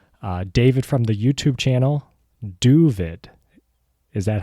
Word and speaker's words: Doooovid: David from the YouTube channel, Doooovid. Is that how to properly pronounce that? Yeah, Doooovid with 4 O's. I'm David here in Southfield, Michigan, civil engineer. Doooovid is the Yiddish of David.